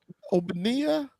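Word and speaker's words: Ogbonnia: Um is that how you pronounce his last name? I if I had to guess is Bonia. Oonia.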